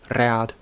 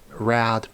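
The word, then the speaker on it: rād: R was said, but most people, myself included, would roll it or tap it, so Rad, Barn, etc. Saying it Rad, Barn is fine, I guess, but it just doesn't sound as cool, so please learn to roll your R's.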